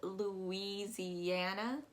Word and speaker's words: Louisiana: set for missouri uh you're actually going to pronounce that oh you as in e z and uh going up